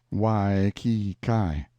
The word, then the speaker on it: Waikiki: is the village of waikiki usually pronounced wai ki kai once the capital of